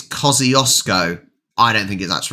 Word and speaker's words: Kosciuszko: Kosciuszko? No, that's not how you pronounce it. Kosciuszko. It's got to be because an SZ is sh.